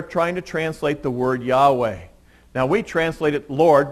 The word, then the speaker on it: Yahweh: to say God's name which we think is pronounced Yahweh we're not sure because nobody's pronounced that name for thousands of years but it's not Lord